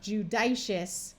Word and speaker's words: judicious: Now, you might wonder why this has a short I sound. It's because this syllable is not accented. So instead of being a long I sound of judicious, it becomes judicious.